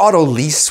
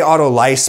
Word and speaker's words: autolyse: he bestowed upon it auto lice or auto lease would be the french pronunciation i think that sounds like something you would get at a car dealership i say auto lice because that's a little bit closer to the scientific greek roots which be auto lysis